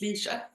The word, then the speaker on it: Lecia: her her name is lesia is that how we pronounce your name by the way that's what I've been saying but how do you say your it's just Leisa just Leisa there we